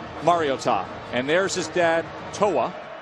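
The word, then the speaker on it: Mariota: It's Mario and then Ta. Put it all together, Marcus Mar-I-o-tah.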